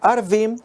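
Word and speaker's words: ערבים: Cuando se pronuncia Arvim, significan árabes.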